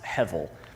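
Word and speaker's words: הֶבֶל: be able to pronounce it the way it's pronounced. It's heavil.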